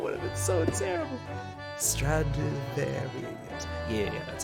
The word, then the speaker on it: Stradivarius: Stradivarius.